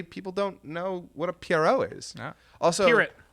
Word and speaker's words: Pierrot: Apparently, I'm the first person Dizzy Dreamer the first American that Dizzy Dreamer's ever met to pronounce the name Studio Pierrot correctly. Apparently, people don't know what a Pierrot is.